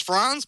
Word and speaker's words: Franz: Hi, it's Franz, but close enough. Franz. Okay, good. It's more of a German pronunciation then. I should have known that from the spellings.